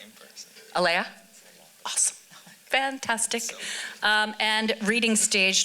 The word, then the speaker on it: Alaya: are you at uh is that character's name pronounced Elia or Leia a-l-a-y-a Laya fantastic um and reading